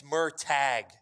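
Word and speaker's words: Murtagh: Chat is saying it's Murtag. Murtag. Yeah. Well, that changes my opinion entirely. Murtag, like Maytag, always Like delivers.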